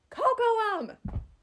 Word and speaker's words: Kokoum: like when Pocahontas was worried or considering marrying Kokoum." And like he was like completely biffing it on pronouncing Kokoum. He's like, "Uh uh uh." I'm like, "It's Kokoum."